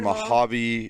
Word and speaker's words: Mojave: Mojave Valley Community Park.